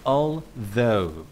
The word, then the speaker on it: although: Jadi, pengucapannya adalah although. Huruf "gh" di akhir tidak diucapkan.